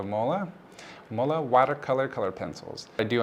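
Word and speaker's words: MÅLA: I believe they are pronounced as the Mola watercolor color pencils.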